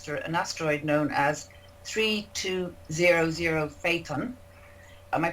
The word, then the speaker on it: Phaethon: The Geminids are produced by debris left behind by an asteroid known as 3200 Phaethon. Am I pronouncing that right, guys?